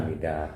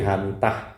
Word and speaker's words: Hamidah: A H H mitah kalau dibaca yang benar Hamidah yaitu TH itu di sana memang baca dah, tapi kalau orang sini tah gitu. Makanya dosen-dosen yang absen pasti Hamitah ya. Karena THA bacanya di sini tah.